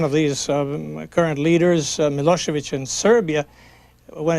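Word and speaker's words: Milošević: these um current leaders mosovich in Serbia when it's written when you see it on newspapers it's it ends with a c but actually it is pronounced as if it were CH do you find people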